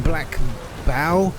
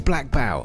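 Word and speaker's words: Blackbough: Baron in Black Bow, I think it's pronounced. I mean, it's hard to tell, right? O-U-G-H. We're here in the world map, right? O-U-G-H. It says Black Bow. I think that's how it's pronounced.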